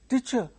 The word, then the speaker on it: teacher: children uttering this way, teacher, teacher, teacher, teacher. It is not teacher. At least the teachers should correct them. Teacher. That is, the stress is on the first syllable, not on the second syllable.